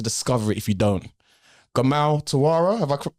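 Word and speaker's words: Gamal Turawa: Gamal Tara, have I pronounced it correctly?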